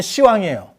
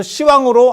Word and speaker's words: 시왕: 10대왕인데 10왕을 우리 발음으로 계속 하다 보면 시왕이에요. 그래서 시왕으로 아예 명칭이 변경됐어. 시왕이 표준호입니다. 10왕이 아니고 시왕. 저런 경우가 어디 있냐면 4방, 8방 시방.